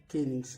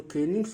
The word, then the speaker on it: kenning: यानी जो केनिंग्स होता है एक कॉम्प्रेस्ड संकुचित मेटाफर रूपक होता है। इसका प्रोनाउंसिएशन होता है, उच्चारण होता है कीनिंग, केनिंग। A compound expression in old English and old Norse poetry with metaphorical मीनिंग्स।